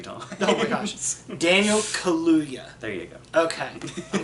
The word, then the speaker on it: Kaluuya: Kaluuya. Daniel Kaluuya. Kaluuya. Exactly like it looks.